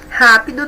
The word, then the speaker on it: rápido: Rápido. Ra é a sílaba mais forte, é a antepenúltima. Então, é a nossa palavra, é a nossa resposta aqui, letra C. Rápido deve receber acento gráfico aqui no A, tá bom?